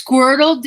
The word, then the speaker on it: Squirtle: It's Squirtle.